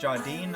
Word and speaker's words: Jardine: Then Al Jardine wrote this one. Oh, it's pronounced Jardine.